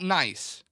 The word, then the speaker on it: Nice: Tommy Robbo is saying Nice named after the place in France. Thank you, Tommy Robbo. It's definitely named after the city. It's Nice.